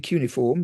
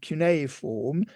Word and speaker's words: cuneiform: you pronounce it well most people say uniform but um we always say C form because of the etimology of the word because it deres from Kos which is wedge in